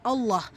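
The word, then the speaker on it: الله: நீட்டம் கொடுத்து ஓதணும் யஷா அல்லாஹ் அல்லாஹ் என்கிற வார்த்தையில் இருக்கக்கூடிய லாம் ஷத்தாக்கு முன்னே இடம் பெற்றிருக்கக்கூடிய ஃபத்ஹா சோ இந்த அல்லாஹ் என்கிற வார்த்தையை நல்ல வல்லினமா உச்சரிக்கணும் யஷா அல்லாஹு ரப்புல் ஆலமீன்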